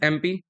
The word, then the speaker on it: MP: शी is dash dash एमपी। एम, ए से pronunciation हो रहा है।